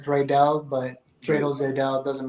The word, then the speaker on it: Draydel: name is but everybody calls me dreel uh drel but I pronounce it Dre Dell but Dre old Dre